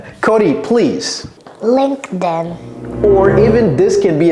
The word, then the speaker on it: LinkedIn: right so this one l l Cody please LinkedIn or even this can be a t right yeah but when I say it fast it's LinkedIn exactly LinkedIn yeah LinkedIn beautiful so Lin Linkin